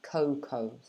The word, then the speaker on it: cocoa: chocolate okay so yeah this one's a bit confusing because of the a try to forget about the a and just say coco o o coco like that okay i